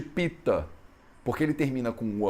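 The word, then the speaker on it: Pitta: Você vai ver muitas pessoas na Índia pronunciando, por exemplo, o nome dos doshas como Vat, Pit, Kapha. Eles tiram o negócio da última vogal. Então é muito normal você falar Pit, Pit, em vez de Pita.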